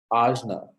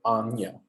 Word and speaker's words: Ajna: Ajna, Ajna or Anya, Ajna or Anya. That kind of that Spanish N with the little squiggle over it, that sound